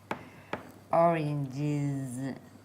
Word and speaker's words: oranges: Oranges. Oranges. Which is what? The long double syllable. Oranges. Orange. How many syllables? Orange. Orange. 2. Oranges. 3. Correct. Apples.